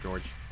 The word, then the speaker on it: Georg: But I feel like most people just call him Spiders George. Spiders? Spiders. Spiders. Spiders. Hard G. So, Georg?